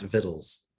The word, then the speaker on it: victuals: Victuals. Yes. How do you pronounce this word, Jess? Oh, geez. Victuals. There you go. Just like my pastor. How Would do you say- believe it's pronounced vittles?